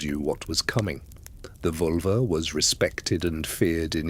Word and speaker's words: Völva: The Völva. Pronounced something like Volva.